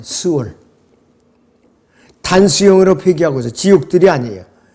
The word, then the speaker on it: 스올: 자, 그런데 이 지옥은 구약에서는 스올이라고 발음해요. 스올.